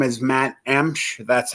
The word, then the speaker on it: Emch: People just kind of kill that last name. Emch. They add vowels and words like they think they're going to correct how it's said. So it's just pronounced Emch, E-M-C-H.